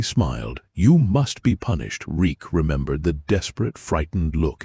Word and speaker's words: Reek: My name is Reek. It rhymes with bleak.